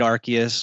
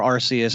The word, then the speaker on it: Arceus: don't matter that's fine i figured an e after c makes it a s sound first of all he's